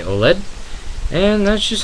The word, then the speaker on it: OLED: don't correct me on saying oled it is pronounced oled go to virtue's website and bite me because